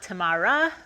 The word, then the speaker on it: Tamar: how do you pronounce your name my name is spelled t-a-m-a-r and that's pronounced tamar it's not tamara or tamar it's tamar so it's a hebrew